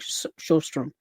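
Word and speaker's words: Sjöström: I think Shrom that's how you pronounce the name.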